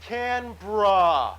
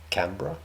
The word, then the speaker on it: Canberra: capital of this territory and the entire country, Canberra. I will never forgive myself for getting totally... Yeah, in the previous video, he pronounced it Canberra, which I found very weird, because I've always said Canberra. It's Canberra.